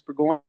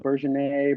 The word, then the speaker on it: Bourgoyne: That was Lucas Bourgoyne. That's how you say it. So, yeah, not bad for your first go around. I've heard Bourgeois, Bourgogne, Bourgogne, Bourgogne.